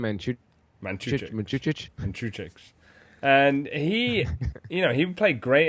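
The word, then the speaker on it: Mandžukić: Mandzukic.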